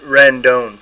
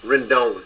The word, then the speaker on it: Rendon: I mean the Cardinals random Rendon Rendon thank you you're welcome yep yep run down you have to correct me on names because I'm terrible you're good my wife you gotta roll your R sometimes all right I'll teach